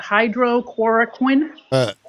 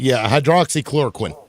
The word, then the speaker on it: hydroxychloroquine: And then my second point is how come Trump did not take ivermectin or how do you pronounce that? Hydrochloroquine? Hydroxychloroquine.